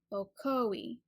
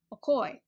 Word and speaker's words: Ocoee: this city pronounced is with three syllables Ocoee the stress on that second syllable oh koi however I heard it pronounced a little different way once okoy my ears went where